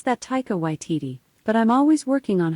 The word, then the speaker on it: Taika Waititi: you say taiko by tt she's like i pronounce that taika waititi but i'm always working on how i say